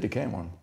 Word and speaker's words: Decameron: Og det er Decameron, det er med C, ikke? Og ligesom i corona. Og det er udtalt som K. Så den endte med at komme til at hedde Decameron.